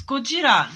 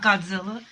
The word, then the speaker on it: Gojira: It's Gojira, not Godzilla. So you... It's Gojira. It sounds nothing like Godzilla.